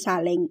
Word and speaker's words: Saleng: Now, dito sa Cordillera or dito sa Baguio City, ang pronunciation actually ng Saleng is Saleng.